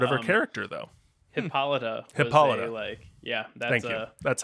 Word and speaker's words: Hippolyta: the important part of her character though hippolyta hippolyta yeah that's how it's pronounced it's a famous shakespeare character yes there's